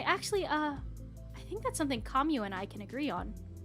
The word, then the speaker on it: Camus: I tend to pronounce Camus like Kamu like Camus. Yeah, it should be Kamu.